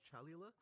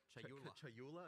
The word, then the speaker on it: Chayula: The acolyte of is it Chalula? Chayula. I always say this wrong. The acolyte of Chayula, for example.